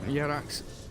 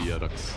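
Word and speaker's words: Jerax: Yerax, no tail, looking for Moon.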